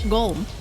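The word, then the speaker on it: GOLM: which is of course golum much to his surprise this ends up being pronounced like golum anyway on a side note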